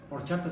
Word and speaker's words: horchata: Si no, horchata se escribe con H. Si no, diría horcata.